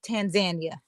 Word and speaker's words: Tanzania: So, but even though we would normally say Tanzania, the correct pronunciation that I'm now aware of is Tanzania.